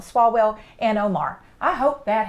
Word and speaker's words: Swalwell: these crazies like shifts swallow well I always say his name wrong swalwell and Omar I hope